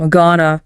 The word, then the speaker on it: gonna: Gonna. Gonna. The phrase going to is almost never pronounced fully in conversation. It reduces to gonna.